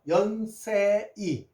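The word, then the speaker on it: Yonsei: 연세이라 하는 것이 아니라 연세라고 우리가 외국인들한테 알려 줘야 돼 있습니다.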